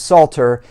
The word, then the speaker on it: psalter: what's called the psalter you don't pronounce the letter p but it is psalter and the psalter represents